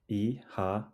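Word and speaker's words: Oíche mhaith: together repeat after Meha eha ehha it sounds like e ha the O has a long sound and the MH is pronounced like a soft W ihha craving more Irish greetings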